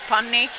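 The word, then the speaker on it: Panni: Penny, so P-A-N-N-Y. The original pronunciation is Punny, but I am having rough time with the American pronunciation, so now I just listen to anything similar.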